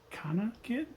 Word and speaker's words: CanaKit: Hello, my name is Eric Grigori, and this is a breadboard connected to the, I think it's pronounced Canakit, C-A-N-A kit.